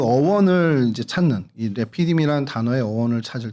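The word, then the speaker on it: רפידים: 히브리어로 레피이라고 발음을 합니다. 저희가 루비디이라고는 하는데 정확히 발음이 레피디으로 발음을 하고요.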